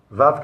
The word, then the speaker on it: Vav: Et le Vav lui-même, écoutez bien, on ne peut pas le prononcer sans un autre Vav. Si je veux dire Vav maintenant, j'ai dit 2 fois V.